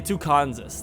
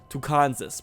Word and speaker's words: Tucansas: a c two Kansas or we should like pronounce it really weird like tanas okay tucanus that's what it is I wish I could put a little axent over the a or something tucanus welcome to the beautiful town of tucanus in